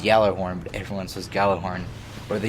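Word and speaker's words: Gjallarhorn: back to where the gala born or it's actually pronounced yellow armed influences gala horn where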